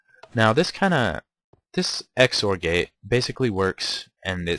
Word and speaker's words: XOR: an exor gate uh you see it is pronounced exor so this is basically